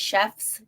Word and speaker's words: Shefts: It's Shefts?